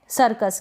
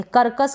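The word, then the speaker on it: circus: सी को हम स पढ़ देंगे। कर्कस करके नहीं पढ़ देंगे।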